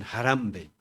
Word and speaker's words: Harambee: Ellos dicen jarambe con el acento en la jarambe.